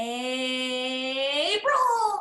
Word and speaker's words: April: The month of the year starts with a long A sound. Does anybody remember it? April.